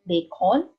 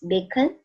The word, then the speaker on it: bacon: example bacon so uh the sound of O here it's not Bon it's bacon so it sounds like a a sound it has a u sound in it camel so it